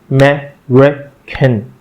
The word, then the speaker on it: American: American. The stress is on the second syllable.